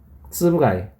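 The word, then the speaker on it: つぶ貝: 쯔브하고 카이하고 이제 붙여서 쓰다 보니까 쯔브 가이라고 읽는데 원래 조개 패자, 이 조개 패자는 카이라고 해요. 카이. 네, 조개 패자. 그러니까 원래는 쯔부카이예요. 쯔부카이. 쯔부가이. 네, 붙여서 읽으니까 쯔부가이가 되는데 자, 읽을 때는 쯔부가이로 읽는다는 거.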